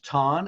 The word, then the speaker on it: Tan: Again, my name is Coach Tan. It's pronounced like wonton or John with a T.